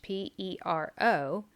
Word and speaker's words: pero: something about this word perro is dog but if you spell it with one ere in the middle looks like the spanish p-e-r-o it's pero and it means but or however so it's really important to practice your pronunciation so that you can distinguish between the two words let's move on to